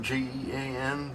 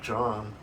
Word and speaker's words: Jean: They spell it J E A N, but I know that's Jean or John in Montreal or near Montreal in Canada.